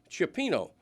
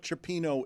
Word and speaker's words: cioppino: I am making cioppino, the San Francisco favorite, the seafood stew.